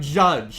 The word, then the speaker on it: Jydge: I'm here checking out judge and yes that is apparently how you pronounce it despite the fact that they have put a why instead of a you in there and they do that